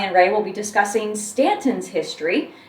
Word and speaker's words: Staunton: I pronounced it Staunton, and when I came down for my job interview, I think at the hotel, I said Staunton and was corrected right away that it was Staunton.